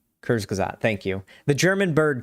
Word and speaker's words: Kurzgesagt: I'm sure, has done a video on it's Kurzgesagt. Kurzgesagt, thank you.